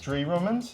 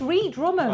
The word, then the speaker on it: Ree Drummond: We found I always get her name wrong. Ree Drummond. Dree Drummond? Yeah. Okay. Oh, is it? Am I saying it wrong? Oh no, it's it's Ree Drummond.